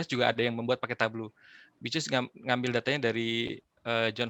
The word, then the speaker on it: Tableau: dipandang tabu juga kita Tablo ya jadi tega udah ngingetin bahwa bukan tablu ternyata bacanya ablu Oke